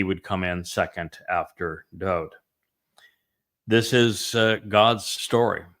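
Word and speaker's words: דוד: His name is Dod. It is not actually David. It's Daleth Wah Daleth would be pronounced Dod.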